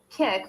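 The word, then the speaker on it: Kik: Kick, which is spelled K-I-K, is a free messaging app that anyone can download.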